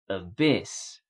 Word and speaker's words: abyss: Hi, this is from Improve Your Accent, and today's word is abyss. Abyss. The stress is on the second syllable.